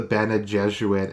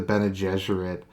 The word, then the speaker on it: Bene Gesserit: Now, people got angry that I called them the Bene Gesserit instead of the Bene Gesserit. But I just always thought it was that way just because they're obviously based off of... Their name is obviously an homage to the Jesuit IRL, so I always just pronounced it that way.